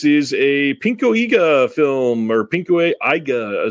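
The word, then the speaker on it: pinku eiga: a pinka film or pinku AA sorry it's the proper way to say that um this is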